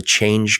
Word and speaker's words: CHAINge: But change is spelled C H A I N G E. So like like supply chain but also change.